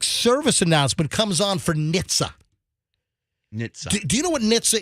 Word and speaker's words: NHTSA: Transportation safety administration what is a silent h Nitza and it's n h t s a Nitza